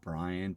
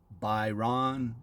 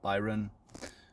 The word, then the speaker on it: Byron: if you want being called brian typically uh after 39 years on this plan it gets a little annoying so but if you uh would like to know the pronunciation it's byron or byron but is fine